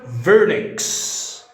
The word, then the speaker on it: Wernicke's: وسبب ان هذا الاسم الماني فان حرف ال W ينطق صوت الف فنقول Wernicke's. Wernicke's.